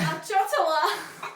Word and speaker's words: ciotola: So in Italy, we call this a ciotola.